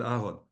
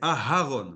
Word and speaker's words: Aharon: Donc d'ailleurs attention, ne vous faites pas appeler Aaron, d'accord ? C'est Aharon. N'oubliez pas le H. Ça c'est Je sais que les les lettres sont mal prononcées. Donc c'est pas Aharon, c'est Aharon. Il faut prononcer le H.